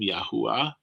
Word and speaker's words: Yahuwah: eternal yah the youth which we pronounce the name yahuwah which we believe is is the most reliable ancient hebraic pronunciation it says yahuwah blessed